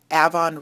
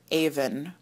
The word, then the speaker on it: Avon: So that is where Stonehenge is located relative to the River Avon. And there is, now I know you're from Rochester and you probably pronounce that Avon, but in southern England they pronounce it Avon.